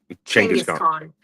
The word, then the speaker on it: Genghis Khan: Genghis Khan. It's pronounced with a ch, not a g.